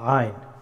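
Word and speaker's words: عين: A, a, ayn. The letter of ayn pronounced from middle of the throat.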